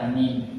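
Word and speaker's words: آمين: Cara baca amin. Menurut pendapat yang masyhur di kalangan ahli bahasa, ada dua cara membaca amin yang benar. Yang pertama dibaca dengan dipanjangkan kata a sehingga menjadi amin.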